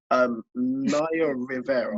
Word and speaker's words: Naya Rivera: So an ex-Glee star that goes by the name, if I pronounce it wrong, I'm really sorry. Naya Rivera.